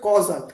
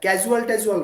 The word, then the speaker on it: causal: আচ্ছা আরেকটা কথা বলি, এটা কিন্তু উচ্চারণটা হচ্ছে কজাল, ক্যাজুয়াল না, হ্যাঁ, অনেকে আবার ভুল বলে ফেলে, কজাল, ঠিক আছে, the system is causal.